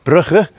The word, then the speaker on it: Brugge: If any of you have ever been to Bruges in Belgium or Brugge as the locals say, um I ended up living there for a couple of years as a bicycle tour guide.